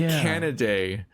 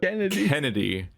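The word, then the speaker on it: Canidae: means he's a wolf like canaday like cnn c-a-n-i-d-a-e they pronounce it in b stars in the english dub kennedy what and what additionally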